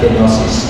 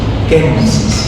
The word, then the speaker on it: kenosis: a bit more of the kid it's not genosis genosis sister ne said father hindi i ask